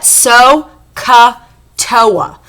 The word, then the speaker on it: SOHCAHTOA: And I pronounce that SOHCAHTOA to help me to remember which sides go with which trig ratios.